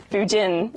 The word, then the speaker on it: Budin: My name is Shona, and right now I'm joined by the wonderful Budin. I said it right? That's right. Yes. Budin. Yes.